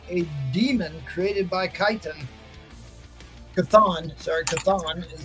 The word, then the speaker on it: Chthon: Chthon is how you All right, pronounce guys.